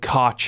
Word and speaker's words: Koch: like literally like just about how to pronounce their name in different territories. And then in there he said Koch if you're in North America.